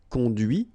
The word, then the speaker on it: conduit: hear the difference between because remember final T is not pronounced cond here and then the